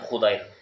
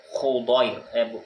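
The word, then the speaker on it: حضير: Ya, bukan Khudair, ya. Wa dhadin mu'jamah, ya, dan dhad mu'jamah itu maksudnya dhad Hudzair, Hudzair, ya. Bukan Husair, ya, bukan Husair. Maftuhatin yang di fathah, Husair, bukan Hasir, ya.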